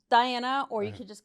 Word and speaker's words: Daena: So, it's Diana or you could just call me Diana just because the way it's spelled and the way you pronounce it.